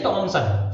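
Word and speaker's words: Thomson: जे टॉमसन, फिर again ध्यान रखना एच नहीं पढ़ा जाता, तो जे टॉमसन वाज the first person to propose a model.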